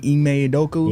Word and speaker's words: Ime Udoka: From getting Coach Ime, was his name Ime Udoka? Yeah. That's how you pronounce it?